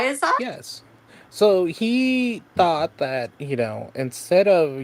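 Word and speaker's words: Thoth: but there is influences in here from the thought deck.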